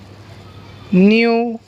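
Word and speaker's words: know: उसके बाद के साइलेंट देखेंगे, न्यू, नी, knife, night, नॉब, not, neck, नो, निटीर।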